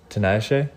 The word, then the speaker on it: Tinayesh: you're gonna try to say my first name tanashe yeah did I say it right you did tonight yeah tonight tonight